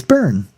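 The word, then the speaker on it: Byrne: of The Talking Heads how do you pronounce his last name correctly it's burn okay every people correct me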